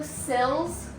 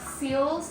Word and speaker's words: sill: going to be doing window sills not seals everybody wants to correct